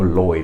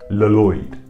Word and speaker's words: Lloyd: Maybe we should be pronouncing this name Lloyd, but we don't, it's pronounced Lloyd. So while this name does start with two L's, we only really pronounce it as if it has one L.